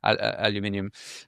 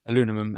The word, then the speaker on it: aluminium: Now, it's obvious stuff like, let's say, steel manufacturing or aluminium, aluminum, as we say here. Um, uh, no, no, I love the way the British say it.